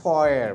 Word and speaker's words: foyer: পারে, উন্মুক্ত জায়গা যেটা ওপেন স্পেস, সেটাকে আমরা ফয়ার বলি। শব্দটা উচ্চারণ বলেছি, বানানটা মনে আছে?